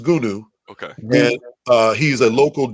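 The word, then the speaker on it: Goonew: Goonie Goo Goo. No, his name is Gunu.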